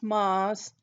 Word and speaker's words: Meuse: So since this is geology, we're going to talk about a special data set, and it's called, even though it's spelled like this, it's spelled like meuse. It's pronounced meuse.